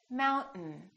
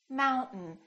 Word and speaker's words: mountain: This AI, these two letters are not pronounced. We don't say mountain, we say mountain, mountain.